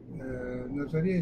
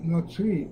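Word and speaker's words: נוצרי: Назарея – это неправильное произношение. Нацри он называется в еврейских источниках.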